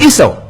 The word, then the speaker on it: Yeshua: Yeshua, we say Esau. So his name was Esau. He's walking, say Esau. Shalom alaikum, alaikum shalom. Esau. How do you call him? Esau. It rhymes. That is his name. In Hebrew, Esau. In Arabic, is Esau.